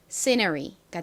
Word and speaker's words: scenery: 그래서 n의 니은 소리 그리고 e가 가진 소리가 합쳐진 너라는 발음이 되고요. 그리고 끝에 r은 리을 소리, y는 ei 소리 중에서 e 소리로 쓰였죠. 읽어보면 scenery가 됩니다. scenery. 앞에 강세가 있어요.